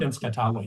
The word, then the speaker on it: Tenskwatawa: You have an excerpt from a speech of, and I'm going to mispronounce it, Tenskwatawa. Is that close? From Tenskwatawa, yes.